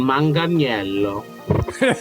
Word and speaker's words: Manganiello: I've heard it pronounced Manganello. Manganello. Oh, that's how he says it, I think. Yeah. Well, he would probably know. Although the true Italian would have been Manganiello.